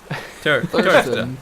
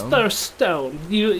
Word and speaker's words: Thirststone: Thurston. It's Thirststone.